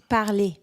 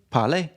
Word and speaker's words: parlé: Parler. Parler. So the E with an accent is an A.